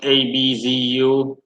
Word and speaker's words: Abzu: Apsu god, pronounced ABZU.